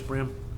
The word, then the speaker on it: Brim: Oh, Brim? yeah. That's right. How do you spell that?